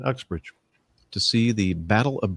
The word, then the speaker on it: Uxbridge: Is that the way you pronounce that? Yeah, that's right, Uxbridge.